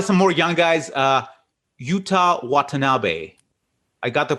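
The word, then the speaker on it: Yuta Watanabe: move on to some more young guys uh utah watanabe i got the pronunciation right i believe because paul uh corrected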